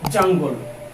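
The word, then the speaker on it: jungle: জঙ্গল এর ইংলিশটা কিন্তু আমরা বলবো জাঙ্গল। প্রোনাউন্সিয়েশনের দিকে একটু খেয়াল করবেন, জাঙ্গল, জাঙ্গল, রাইট?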